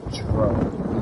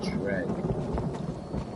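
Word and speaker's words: Dreugh: I just realized that Drug is pronounced Dreg because of this NPC. We call it Drowax. It's not Drowax, it's Dregwax. I've never heard anyone that plays this game pronounce it Dreg.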